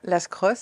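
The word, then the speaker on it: Lascrosses: lacross c'est bien ça lascoss lascoss pardon je prononce pas le S et on a un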